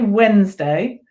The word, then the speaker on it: Wednesday: how you spell Wednesday so we say Wednesday but we spell it